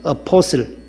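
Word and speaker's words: apostle: A-P-O-S-T-L-E, 어포슬. T는 묵음이에요.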